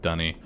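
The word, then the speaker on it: D'ni: I hate Alright, that it's what did he spelled do with the D books? apostrophe N-I and it's pronounced Dunny.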